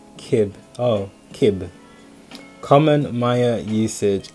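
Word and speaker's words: Cib: So, okay, Sib, pronunciation Kib.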